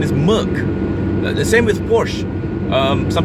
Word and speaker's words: Merc: The short form for a Mercedes-Benz is Merc, not Merce.